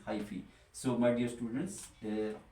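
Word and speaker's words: hyphae: and D is highy pronunciation is highy so my dear students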